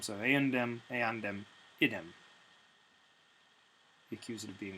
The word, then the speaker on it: eandem: And then in the accusative, instead of eumdem, that m has shifted when followed by a d to an n. So it's merely a shift in pronunciation, not actually a shift in form. So eandem, eandem, idem.